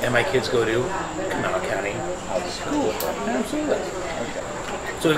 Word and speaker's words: Kanawha: Are you sure that's not Kanawha? It's spelled Kanawha, but Siri likes to say Kanawha. Siri is not from West Virginia. No. And in West Virginia, they say Kanawha.